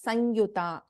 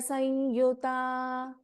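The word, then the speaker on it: संयुता: Vadanatraya Samyuta, we generally, when there is an Anuswara and when there is a Ya, we pronounce this as Sanyuta. So, Manipurabja Nilaya Vadanatraya Sanyuta.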